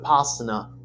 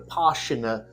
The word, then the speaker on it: Vipassana: topic is on the 10-day Silent not the Posner actually pronounced The poshuna Meditation Retreat which is a donation based system